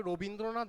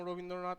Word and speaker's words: রবীন্দ্রনাথ: তাহলে দেখো এটা বোঝার জন্যে দেখতে হবে রবীন্দ্রনাথ বানানটার মধ্যে আমরা কি শেষে অ এর উচ্চারণ করছি কোথাও? রবীন্দ্রনাথ বানানটার শেষে আমরা অ এর উচ্চারণ করছি না, ঠিক আছে?